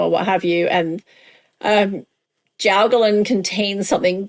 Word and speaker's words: Jiaogulan: Yes, it's actually jiaogulan. Is it? According to my Mandarin speaking child who is learning Mandarin in high school, I gave this to her and I said, "How do you pronounce this?" And she said jiaogulan with an emphasis on the gu, which I can't figure out how to say.